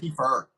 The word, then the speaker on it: Kiefer: Kiefer. Is it Kiefer, I Keith? always say it wrong. I always thought it was Keith or Sutherland.